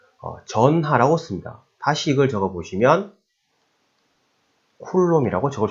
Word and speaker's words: 쿨롬: Q는 단위가 C, 쿨롬이라고 읽습니다.